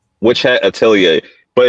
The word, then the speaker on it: Atelier: That's if you like Witch Hat Atelier, but it's because the R is silent. It's weird. Whatever. I guess it's Atelier is a French word or some shit like that, but I don't know.